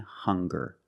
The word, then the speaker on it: hunger: Also, we have these two words, hungry and hunger. They also make the same sound with the nasal sound and the hard G.